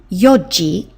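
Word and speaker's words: 四時: That would be yi. Remember, you don't say the n in the yon.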